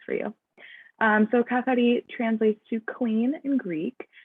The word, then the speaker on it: Kathari: That's pronounced Kathari. I will roll my R's. That's the Greek way to say it. Feel free to say it like that. Or you can just say Kathari, whatever works for you.